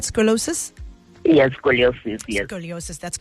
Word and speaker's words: scoliosis: Scoliosis?